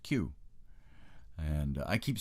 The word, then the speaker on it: Keogh: It should really be pronounced Q. Keogh is pronounced Q. And I keep saying Keogh, but there you go.